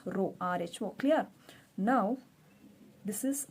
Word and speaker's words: rho: but elongated s but while you are pronouncing you need to tell it as row rho clear now this